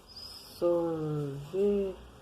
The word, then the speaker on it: sorvete: Toda vez que o R vier no final da sílaba, a gente dobra a língua e fica sor, v, t. Lendo de novo. Sorvete.